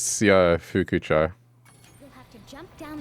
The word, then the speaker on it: Shofukucho: Okay, if you're asking me to pronounce the town in Yakuza, it's Syofukucho. Well done, Spyro. That's how you say it. Or sho. Like, it's easy to go sho, but in Japanese it's Syofukucho.